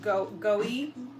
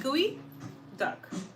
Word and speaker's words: geoduck: It's called goey. What? Goi. Gooey. Duck.